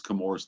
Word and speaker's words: Chemours: Uh, so the H is silent and uh they what what is Kamores today used to be DuPont up until 2015.